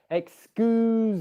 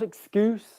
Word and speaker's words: excuse: spelt with an s but it's a voiced z z sound okay it's excuse me not an s not excuse me excuse me all right